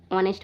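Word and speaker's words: honest: इसको इसको हम ऑनेस्ट पढ़ेंगे। क्या पढ़ेंगे? ऑनेस्ट। इसको हम ऑनेस्ट पढ़ेंगे। क्योंकि ओ से पहले यदि एच आता है तो एच साइलेंट होता है। एच को नहीं पढ़ते।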